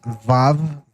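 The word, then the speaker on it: ו: It's pronounced vav vav vav anyways to the inhabitants of the earth.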